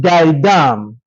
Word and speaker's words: Gaidam: Maihaja is spelled m a i h a j a against Gaidam.